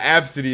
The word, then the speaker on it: ABCDE: pronounce like that though how is it pronounced or was just a b c d or wasn't like absentee no it was absentee yeah yeah absentee is how the press how it's pronounced I remember that yeah but they've spelled it ABCDE absentee yeah what like